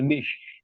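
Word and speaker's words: niche: আই সি এইচ ইস এটার উচ্চারণটা হলো এন আই সি এইচ সি উচ্চারণটা আমরা বলি হলো নিশ এই নিশ জিনিসটা কি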